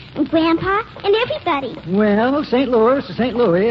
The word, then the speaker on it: St. Louis: Costello, but it's pronounced St. Louis.